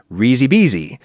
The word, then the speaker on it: risi e bisi: If you elide the E sound at the end of risi into the word E that precedes bisi, then the pronunciation becomes risi bisi, which is delightful.